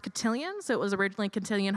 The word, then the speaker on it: Cotillion: And I believe this is pronounced cotillion, so it was originally Cotillion Hall.